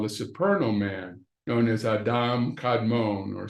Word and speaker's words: Adam Kadmon: superal Man known as Adam kadmon or some people say Adam Cadman but the correct pronunciation is Adam kadmon the spot are the